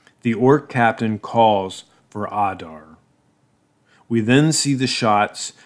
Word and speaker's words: Adar: on Adar Adar Adar it sounds like he is pronounced Adar you can go here